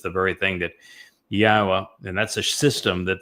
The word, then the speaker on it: Yahweh: God's name is pronounceable. It is Yahweh. There is no B sound in the original Hebrew language.